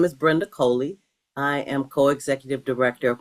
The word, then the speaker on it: Coley: Nicole Robinson, and I'm here with special guest Brenda Cooley. Sorry for mispronounce that name, but can you introduce yourself and explain a little bit about what you do? Okay, my name is Brenda Coley.